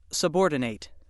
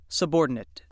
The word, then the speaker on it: subordinate: When it's used as a verb, it's pronounced subordinate. When it's used as an adjective or a noun, it's pronounced subordinate.